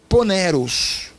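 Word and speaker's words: πονηρός: coração maligno ela é ela é uma palavra grega é que se pronuncia poneros o pioneiros pioneiros querido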